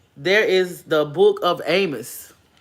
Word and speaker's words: Amos: the words around it's it's the Book of Amos but it's pronounced ammo the ammo was and